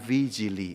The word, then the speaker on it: Vigili: Tulisannya Vigili ya, V-I-G-I-L-I. Dibacanya Vigili.